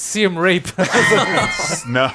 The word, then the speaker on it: Siem Reap: over on the coast Sam Reid was actually the name of the no he's mispronouncing it's seem rape oh gosh Morgan Jr